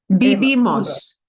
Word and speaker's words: vivimos: Vivimos. Okay, vivimos. And here is the syllable we punch a little bit harder. Because second to the end, that's what we punch a little bit more.